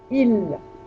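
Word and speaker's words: ils: Il avec un S. Il. You don't pronounce the S. Il.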